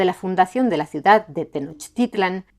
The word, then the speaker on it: Tenochtitlan: ¿De dónde salieron los fundadores de Tenochtitlan? Y sí, también hay quienes prefieren pronunciar Tenochtitlán, pero tampoco vamos a detenernos en los debates léxicos sobre cada palabra, porque no avanzaríamos nada.